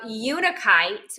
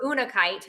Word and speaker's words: unakite: uh rose quartz uh unikite or unakite however you want to pronounce it uh and um